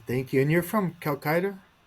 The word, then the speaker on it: Calcutta: And you're from Calcutta? Calcutta, yeah.